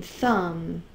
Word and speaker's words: thumb: And here's the MB, like in thumb and lamb. Okay, MB, the B is silent, only the M says its sound.